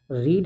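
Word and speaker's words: read: v3 आएगा यहां से रीड है रीड का v3 होता है रीड लेकिन स्पेलिंग वही रहता है उसको बस रेड पढ़ा जाता है तो अ बुक इज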